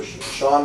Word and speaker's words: Shaone: Which is Sean. But it's spelled Shaone, correct? That's right. So Sean.